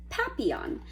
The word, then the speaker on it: papillon: like our neighbor's dog you say it like this papillon and friendship means butterfly